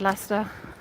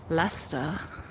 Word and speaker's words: Leicester: wasn't enunciating it because I'd said Lester with a Lester accent because Lester is probably the most Lester thing you can say, right?